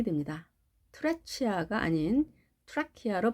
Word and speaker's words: trachea: 먼저 붉은색으로 된 부분 trachea, trachea. 여기서도 CH는 크 발음이 됩니다. trachea가 아닌 trachea로 발음합니다.